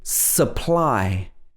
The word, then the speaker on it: supply: change to uh and it's because they are not stressed in this word the stress is on the ply so we don't say